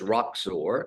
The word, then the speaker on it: Roxor: then the name is roxor which if you can see this we say on the Rocks shaken or stirred and so that's the